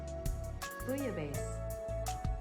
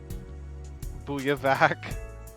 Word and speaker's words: Bouillabaisse: Bouillabaisse? How do I pronounce that? I definitely butchered that. Hold on. Oh, no, it's not nearly that complicated. Bouillabaisse. Bouillabaisse. Okay, it's prayer bouillabaisse. Bouillavac.